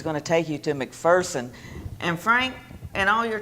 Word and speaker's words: McPherson: corrected visitors you know there's no fear in McPherson and so people who would come in and pronounce it McPherson would quickly be corrected and I just love